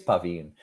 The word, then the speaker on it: Pavin: Pavin. Yeah, Pavin. Yeah, I think it's Pavin.